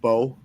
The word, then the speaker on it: Mbow: I think it's pronounced Bow. The offensive lineman out of Purdue, MBOW. I'm not sure how that's pronounced. Yeah, that M is silent. Oh, so it's just Bow.